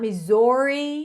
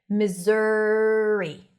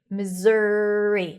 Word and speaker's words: Missouri: not Missouri, not Missouri. It's like a Z sound that shifts to the R directly. Missouri, Missouri, not misery.